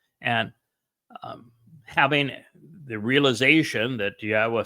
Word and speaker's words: Yahweh: person to tell you that Yahweh's name is pronounced Yahweh, and explained exactly why and proved it.